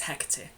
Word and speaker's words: Hecate: Her name is Hecate. I hope you enjoy it. So Hecate's name means far off and others do pronounce it Hecate, but I've always found it easier to say Hecate.